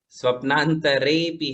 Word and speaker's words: स्वप्नान्तरेऽपि: हाँ, कहीं कहीं गुजरात वाला उच्चारण स्पष्ट रूप से ध्यान में आता है। स्वप्नांतरेऽपि है ना, तो आप र को र ही पढ़े।